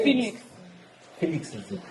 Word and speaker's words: Felix: So it's Felix. Felix is the correct pronunciation.